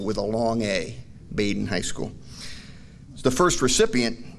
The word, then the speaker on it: Badin: but he said that a deliberate decision was made to call baden high school with a long a baden high school the first